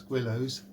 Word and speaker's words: Guillows: The first thing on any Guillows kit, some people pronounce it Guillows, but there's a W in it, so it's Guillows.